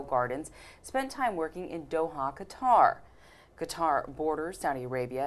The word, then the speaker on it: Doha: So Gina, you were the hospitality events coordinator at the, let me see if I'm pronouncing this correctly, Doha, right, Tribeca Film Festival.